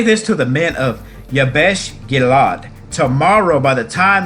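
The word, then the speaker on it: Jabesh: And in verse 10 and 11, so the men of Yabesh, excuse me, I said it wrong. Yabesh, not Bosh, said, tomorrow we come out to you, and you shall do to us whatever seems good to you.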